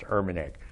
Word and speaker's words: Urmanic: know because my name my last name is pronounced Urbanek but if you look